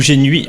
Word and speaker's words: Génuit: on dit Gén ou génuit mais visiblement on prononce pas le T c'est ça selon si